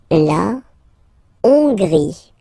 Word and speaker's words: Hongrie: La Hongrie. So remember, H doesn't exist, so you don't pronounce it. So it starts with O-N, on, and then gris. Final E, not pronounced.